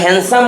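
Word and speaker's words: handsome: ডে আমরা হ্যান্ডসাম বলি হ্যান্ডসাম ডির উচ্চারণ হবে না তাহলে অয়েন্স ডেতে কোন হ্যান্ডসাম গায়ে যদি স্যান্ডউইচ খাওয়ার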